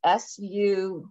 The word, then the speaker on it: Sugru: Oh, can you spell that? It's in the chat. It's Sugrue.